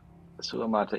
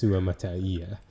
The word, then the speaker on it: Suamataia: Uh, uh, Sulamata, yeah, I can get behind that. So is that adding a syllable? Yeah, I think before I had said Yeah, Suamataia, and yeah. it's Suamataia.